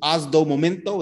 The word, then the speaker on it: Osdomomento: Osdomomento, is that how you say it? Yes, that's you. That's how you say it in Portuguese, man.